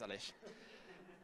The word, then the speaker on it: Aleix: It's pronounced Aleix. It's not Alex. It's not Aleix, especially. And it's not, I don't know, Albert. My name is Aleix.